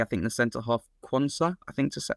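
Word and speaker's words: Jarell Quansah: think the center half quansa I think to how to say it I don't I don't think that one's a realistic one it's jell Konza yeah jel Konza Center back for Liverpool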